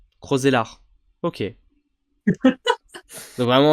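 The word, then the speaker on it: Roeselare: Donc on prononce pas le E à la fin. Roselare. Ok. Donc vraiment, Roselare, Roselare.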